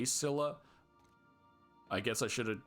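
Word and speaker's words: Scylla: Destination reached Cheney called it Skila. I would say Sila.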